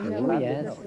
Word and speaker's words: Llandudno: Llandudno, Yes.